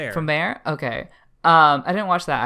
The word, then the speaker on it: Promare: I'm just going by how they say it in the fucking movie. Promare.